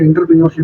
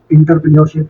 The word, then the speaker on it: entrepreneurship: कोई बोल रहा होता है इंटरप्रेन्योरशिप, कोई बोलता है इंटरप्रेन्योरशिप। असल जो वर्ड है वो है एंट्रेप्रेन्योरशिप। एंट्रेप्रेन्योरशिप, ये इसकी करेक्ट स्पेलिंग है, एंट्रेप्रेन्योरशिप।